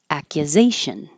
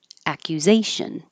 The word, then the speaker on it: accusation: Accusation. Accusation. The U will be very short, so it'll be hard to notice.